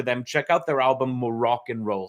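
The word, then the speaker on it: Moroccan Roll: check out their album morocc and roll spelled like the North African country but more rock and roll get it uh um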